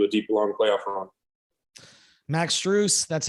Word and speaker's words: Max Strus: a team into a deep long playoff run max truce that's how you pronounce it we appreciate it uh thanks man